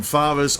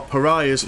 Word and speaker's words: Pariahs: Some Faras, or Pariahs, should I say. Because that's how you properly pronounce them, Mr.